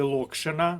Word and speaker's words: локшина: В варіанті Б екзамен, анекдот локшина і нокдау. Зверніть увагу на наголос у слові локшина. наголос на першому складі.